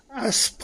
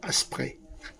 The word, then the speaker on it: Aspres: Alors en fait, ça ça ça se prononce Aspres sur Buech. Pas Asprey. Stationner là-bas, alors franchement la